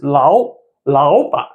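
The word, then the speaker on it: 老板: So we read 老板, not 老. Okay, it becomes a right tone.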